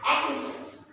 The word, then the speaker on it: acquiescence: And the last situation where C is not pronounced is when C is before Q. C is before Q. When, for example, aqua, aqua, C is not pronounced here. Acquaint, C is not pronounced here. And acquiescence. So, you have to take